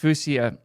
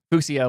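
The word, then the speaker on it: Fuchsia: The Google platform would coalesce under Fucha as the OS for everything. I know it's supposed to be pronounced Fouseia or Fucia like the color.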